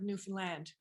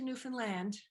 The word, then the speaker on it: Newfoundland: is the migmog name for the island of Newfoundland it's the name in the upper left-hand Corner